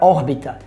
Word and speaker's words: órbita: tipos de acentos órbita a palavra órbita tem três sílabas e seu acento tônico está em Ó seu acento gráfico também está em ó porque seguindo as regras